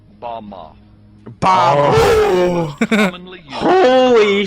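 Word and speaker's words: במה: pronounced Bama.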